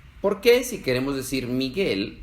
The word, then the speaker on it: Miguel: hay en el español porque si escribiéramos estas dos palabras sin la u se leerían mi gel y guitarra Entonces cuando se escribe G u e ig ui no se leen y we se leen como en Miguel y guitarra otros ejemplos son guerra